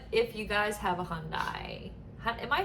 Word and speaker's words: Hyundai: But if you guys have a Hyundai, am I saying that right?